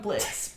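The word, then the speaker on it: Blitzø: how you know how Blitz dropped the O in his name famously Blitz but the O is silent we well okay we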